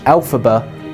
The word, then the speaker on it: Elphaba: The name of the Wicked Witch, Elphaba, was created by taking the phonetic pronunciation of the original Wizard of Oz author, L. Frank Baum's initials, LFB, which became Elphaba.